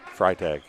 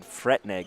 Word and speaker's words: Freitag: Back out to, how did you pronounce that name? Freitag. Freitag. Sorry for the, I have been saying Fretneg the whole game. Sorry about that. I'm pretty sure that's Freitag.